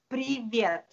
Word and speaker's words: Привет: Привет. That's what hello. Hello in Russian. It says hello. Oh, that's awesome. How do you say it? Привет. Привет. Perfect.